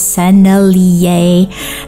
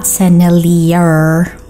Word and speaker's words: Sennelier: Sennelier is a French name, so you pronounce the brand as Sennelier, not Sennelier. Sennelier or whatever.